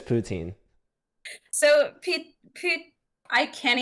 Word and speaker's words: poutine: there are some people who will call it poutine mostly from Toronto because they're like the least Canadian group of Canadians but it but it is pronounced Putin because it is from Quebec and if you're